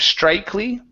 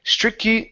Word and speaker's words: strictly: the words uh strictly instead of strikly okay strictly strictly regulated okay so this